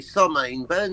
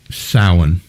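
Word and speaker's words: Samhain: return that would be october 31st somehow aka summon burn now known as halloween or war hallows eve correct and for the record it's pronounced sauen get the bonus point it's welsh no i'm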